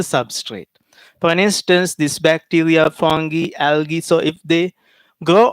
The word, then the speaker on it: fungi: fungi or no matter you can pronounce this as fungi my professor so i learned from him in sri lanka okay he pronounced this as punjai no matter so this is fungi fungi or fungi it's okay bacteria fungi next